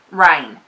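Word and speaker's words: Reign: And then I got Rhine. I think that's how you pronounce that. Rain. R-E-I-G-N.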